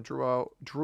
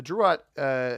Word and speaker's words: Drouot: there is pathing from Drouot or Drouot. I know Sam, viewer of the channel, said that it could potentially be pronounced either way and that Old French likely pronounces the T.